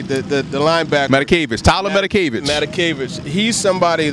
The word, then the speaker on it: Matakevich: I can never pronounce his name, number 8, the linebacker. Matakevich, Tyler Matakevich.